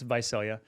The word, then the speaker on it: Visalia: idea right where is Visalia and most people pronounce it Visalia vasilia but it's Visalia um but it's it's south of Fresno about